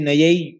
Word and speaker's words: नय: प्रमाण नय रधिगमः प्रमाण नय रधिगमः प्रमाण नय रधिगमः य में दो मात्रा है इसलिए नय इस प्रकार से उच्चारण होना चाहिए और रधिगम संधि विग्रह